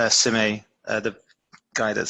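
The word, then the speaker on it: Šime: I can't I I never remember how to pronounce his name, but it's Sime. Uh the guy that's spelled like V R K S A G I O or something like that. Sime.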